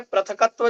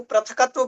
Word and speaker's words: पृथक्त्व: जिनने हमें पढ़ाया वो पृथकत्व पढ़ाया, तो वो आज तक पृथकत्व अशुद्ध है वो, हमारा उच्चारण भी उसमें अशुद्ध आ रहा है। पृथक्त्व बन रहा है।